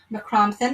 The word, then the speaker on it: Mac Criomthann: So we'll finish off the book tomorrow night with Last Tale, McCrompton, and thank you for the pronunciation once again, G.R. Grove. And we'll start out tomorrow night with McCrompton and the Cave of the Cats.